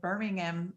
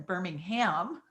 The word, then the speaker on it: Birmingham: David's in Birmingham, England, and I'm in Birmingham. That's how they say it here, Alabama, in the U.S.